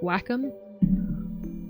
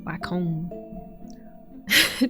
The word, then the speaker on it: Wacom: oh, how do you pronounce that? Wacom? Wacom.